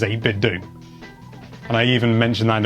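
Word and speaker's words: 8BitDo: get at least one comment saying it's pronounced david doe like nintendo and it's like well it's not i've got a speaker that is biobidding and it says 8-bit do and i even mentioned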